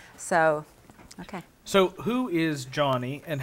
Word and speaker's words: Joni: Okay, it is spelled Joni, but it's pronounced Johnny.